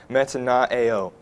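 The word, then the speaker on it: μετανοέω: And our English word repent comes from the Greek word pronounced metanoeo, which defined by an analytical lexicon of New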